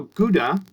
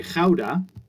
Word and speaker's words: Gouda: Well, Gouda, or as we say, Gouda, is actually my hometown.